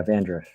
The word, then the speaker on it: Vandruff: And is that how you pronounce Marshall's surname, Christian? Oh, yeah, Vandruff.